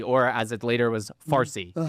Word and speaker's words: Farsi: You don't have to be, okay, Parsi, or as it later was Farsi, Uh-huh. because the Arabs could not pronounce the P, so it became Farsi.